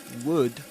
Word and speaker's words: would: Don't forget that in the word would the L is silent.